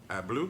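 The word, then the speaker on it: Abloh: real succeeded by the late Virgil of blue I blue that's how you say his name it says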